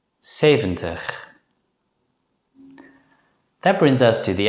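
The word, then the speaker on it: zeventig: Before we conclude this lesson, it's worth mentioning that nowadays many native Dutch speakers pronounce the letter Z as a voiceless consonant S.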